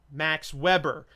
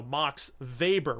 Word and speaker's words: Max Weber: with the letter W comes from German where the letter W is pronounced as our letter V so that is a